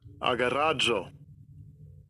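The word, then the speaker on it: ἀγοράζω: Agoroza, I think is how I pronounced it. Agoroadzo, something to that effect. Well, let's listen. Strong's G59. Agarazzo.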